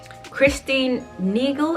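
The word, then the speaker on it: Christine Nagel: now this is a christine neagle is how you say her name creation now she is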